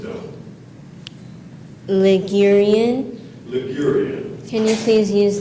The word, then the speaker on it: Ligurian: Are there any alternate pronunciations? No. Ligurian.